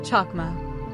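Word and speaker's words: חכמה: The Hebrew word for wisdom is pronounced chakma.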